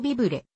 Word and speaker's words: vivre: いう意味を持つフランス語の単語ビブレ日本語の発音ではビブルのほうが近いを語源とし